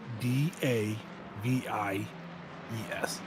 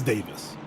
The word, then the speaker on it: Davies: So, like in the UK for the last name that is spelled D A V I E S, how would you think that they would pronounce that in the UK? It should be Davies. No, it's Davis.